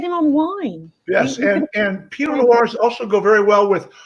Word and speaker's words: Pinot Noir: This is a Pinot Noir, not Pinot Noir, not Peanut Noir.